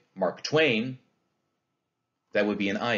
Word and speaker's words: Mark Twain: a few of these mark twain do you hear how that's a spondy we don't say mark twain that'd be a trokey and we don't say mark twain that would be an